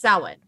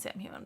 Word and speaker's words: Samhain: Samhain, Samhain, which is the actual holiday, is pronounced Samhain. Say it one more time. Samhain. Samhain. Okay, I got it. I'm Samhain, still going to Samhain. call it Sam Hewen, but it's fine.